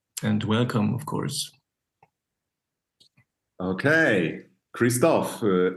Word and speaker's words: Christophe: welcome of course okay Kristoff am I pronouncing your your name correctly yeah that's right that's right okay Kristoff so uh